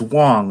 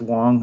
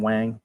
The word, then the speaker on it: Wang: and it's it's it's Wong right it's pronounced Wong in fact I think he actually gets angry if you call him Wang but it's Garrett along